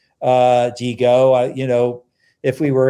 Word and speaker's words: DiGo: The pronunciation that we bring to it is more international. Digo, you know, if we were in Italy or Japan, people would say it right.